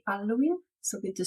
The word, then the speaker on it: Halloween: about the word Hall Italians don't usually pronounce it with the H sound at the beginning as in Italian the H is silent so this word is commonly pronounced alen or alen in both versions the